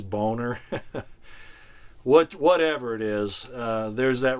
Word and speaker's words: Boehner: I can't figure out how to say his name. He pronounces it Boehner, but I think it really is Boner.